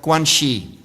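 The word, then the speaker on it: 关系: So just if you could repeat after me together, guanxi.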